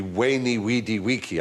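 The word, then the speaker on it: veni, vidi, vici: I was taught Latin we were taught to pronounce the v as a w so it would be wany weedy weaky I came I saw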